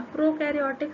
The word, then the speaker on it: prokaryotic: the prokaryotic cell a prokaryotic cell that means pro rhymes with no so that means they